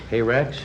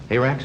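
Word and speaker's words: hyrax: didn't know about it hey rex right hey racks is that right high rates high racked or a hey rex i do it the western pronunciation and a no-no goose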